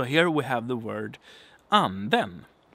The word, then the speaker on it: anden: So here we have the word anden. Anden. Not anden, but anden. And it's a kind of a falling tone.